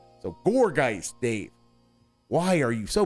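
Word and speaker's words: Gourgeist: But then um gorggeist he wants to pronounce gowergeist even though it's a pumpkin. It's a haunted pumpkin. It's very clearly the emphasis that the the the analogy is supposed to be gourd. So goregeist Dave, why are you so bad with names?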